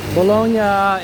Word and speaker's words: Bologna: The GN, like lasagna, is a ñ sound, kind of like the N tilde in Spanish.